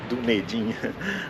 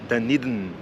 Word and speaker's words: Dunedin: à cidade de danin como a gente falaria em português dedin a pronúncia correta é danid estou falando com vocês